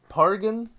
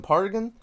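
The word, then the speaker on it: Pargin: author of John Dies at the End, Jason Paragon, I think is how you pronounce his last name. Yeah, Pargan, Jason Pargan.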